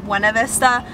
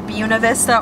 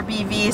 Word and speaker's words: Buena Vista: And if you saw it spelled out, you would think that it's pronounced Buena Vista, but the locals will say it's either Buena Vista or BV, so if you come here, make sure you call it BV and you'll sound like a local.